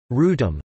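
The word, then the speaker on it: Wrotham: to be superseded by the Australian work, the Rotham, pronounced Rootum.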